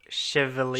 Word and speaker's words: Chevalier: Chevalier.